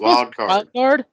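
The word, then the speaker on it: Wyldkard42: Is it wild card? Yeah. Why would you spell it with a Y?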